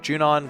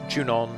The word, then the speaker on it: Junon: kill and then when we get out of june on we will have the buggy on the other